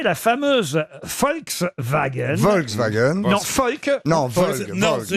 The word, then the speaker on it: Volk: En allemand, V, c'est le feu. feu. Croyez-moi, c'est Volk. Ouais, c'est un W. Volk, c'est un V, ça se prononce feu.